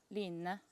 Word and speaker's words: Line: by Sandnes Garn, and she said Lina, Lina, Lina, something like that. She said that I should not confuse this with another word that is actually Lina.